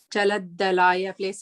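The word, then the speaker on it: चलद्दलाय: Chaladdalaya, please make sure that the two das are there.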